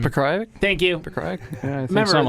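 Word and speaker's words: Pokrajac: He also beat Igor Porajek, however you say his name. Pekrajic?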